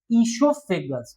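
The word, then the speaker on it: oesophagus: और इसको प्रोनंसिएट कैसे करते हैं? इसको क्या बोलते हैं? इससोफेगस। ठीक है? वो एक तरीके से साइलेंट होता है।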